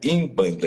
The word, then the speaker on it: Umbanda: banda que na realidade ela é chamada em banda com n o n tem se pronuncia im banda então é n banda que seria im banda essa palavra é